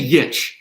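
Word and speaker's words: Grujić: I say Yich. I say Grujic. Like I pronounce the J with a Y.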